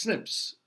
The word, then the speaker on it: SNPs: occurs in that 1% that is diverse snps pronounced snips is single nucleotide polymorphism and that's the common